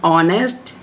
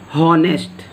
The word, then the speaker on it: honest: Third is, he is an honest man. Student, the spelling of honest is start with H. H-O-N-E-S-T. The spelling of honest is start with H. But this H is silent. We can't pronounce it honest.